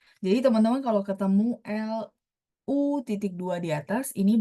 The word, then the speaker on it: 路: Tapi kalau yang ini lausir bacanya lu, misalnya zou lu.